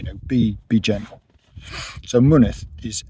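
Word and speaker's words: Mynydd: be be gentle so money is m y n y Double D so the first Y and the second y are pronounced differently goodness yeah the Double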